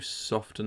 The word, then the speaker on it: soften: I'm going to soften it. Don't know why I pronounced the T in soften then.